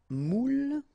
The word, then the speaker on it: moule: Un moule, okay, and you've got here the meaning, un moule, and the feminine form, une moule, all right, une moule. Okay, keep in mind you pronounce them the same way, but then, as you